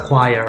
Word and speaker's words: choir: let me show you flyer this is a choir okay a group of group of people singing